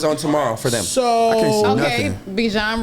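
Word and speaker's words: Bijan: like sure okay so bejan rhymes with DJ so the game that comes on tomorrow for them okay bjan rhymes with djn yeah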